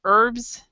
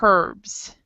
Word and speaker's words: herbs: So some people will like I pronounce it without the H sound, so I pronounce it herbs. And other people pronounce it herbs, and so you just